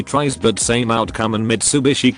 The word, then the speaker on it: Mitsubishi: but same outcome and mitsubishi comes out miss yobishi is she southern because